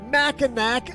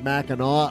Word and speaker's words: Mackinac: Mackinac Island. Well, that's the way it's spelled. The locals pronounce it Mackinac Island, but they just haven't figured out how to spell it right.